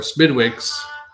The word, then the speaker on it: Smithwick's: Smithwick's or Smidwick's, like a D in there almost, the way they pronounce it, is a clear beer